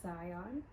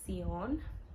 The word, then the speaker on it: Zion: family, I feel like the Spanish speaking people in my family would call him Sion, and I would not be okay with that.